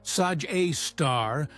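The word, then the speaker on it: Sagittarius A*: Sagittarius A, affectionately called Esgar A and pronounced Saj A star by astronomers who spend their careers studying it.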